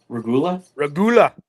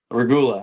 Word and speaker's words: Regula: Regula. Regula.